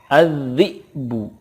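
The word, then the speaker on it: الذئب: Contoh berikutnya, az-zi'bu. Az-zi'bu, ketika waqaf cara bacanya az-zi'b. Az-zi'b, ada qalqalahnya karena ba sukun qalqalah.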